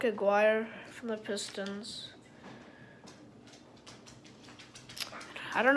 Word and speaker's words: Aguirre: we got mark aguirre not mark maguire but mark aguirre from the pistons i